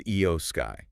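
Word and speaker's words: IYO SKY: The champion, her name is Eio Sky, just so we're all clear on that one.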